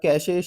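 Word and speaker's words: cache: तो यहाँ पर कैशे बोला जाता है, इसकी सही प्रोनाउंसिएशन है।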